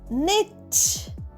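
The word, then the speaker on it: knit: দরজার খোলার জন্য হাতল ঘরাও কে এন আইটি নেট অর্থাৎ উলবোনা নেট কে এন আইটি মানে বোনা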